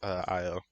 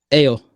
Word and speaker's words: Ayo: have to do with Io, but I don't know. I kind of feel like it should have been someone more prominent. Ayo, is Io, Ayo, it can be pronounced either way.